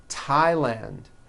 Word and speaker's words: Thailand: like to point out although these next words and names are spelled with a th they are pronounced as if they were spelled with a normal T like that and these